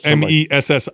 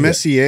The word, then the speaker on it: Messi: So M-E-S-S-I. Is it Messier? Is that how you pronounce it? Messi? No, it's Messi.